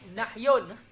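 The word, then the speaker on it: نَهْي: Berarti nahyun, bukan nuhiya, nahyun bacanya.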